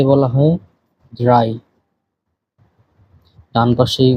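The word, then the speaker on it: drei: 3 কে বলা হয় ড্রাই।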